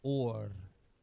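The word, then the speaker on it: אור: that's the V but because it has this dot over it that's called a holum and because there's a holum the V isn't pronounced is actually a vowel but we haven't gotten a vows yet this is pronounced or or that means light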